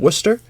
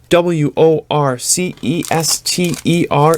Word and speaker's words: Worcester: one the last September when they played in Worcester and yes if you are from out of town Worc e st ER is Worcester all right Worcester pronounce it like